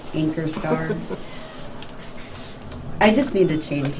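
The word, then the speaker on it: Ankerstjerne: How do you say your last name? Anchor Star.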